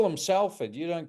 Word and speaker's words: Salford: We we call them Sulford. You don't call him sulfur, do it's pronounced sulfur.